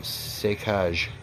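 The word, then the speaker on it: Saccage: They're called, you pronounce it Sécage. It's French for, oh, let's see, rampage or pillage.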